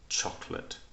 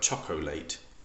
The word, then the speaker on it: chocolate: that's a good example it looks like chocolate but we say this word chocolate so when you hear